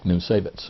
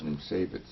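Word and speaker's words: Niemcewicz: Nimsewicz. Nimsewicz.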